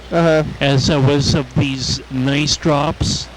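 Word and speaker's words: N'ICE: drops that were like N''ICE, and it's, you pronounce it nice, and it was like this penguin.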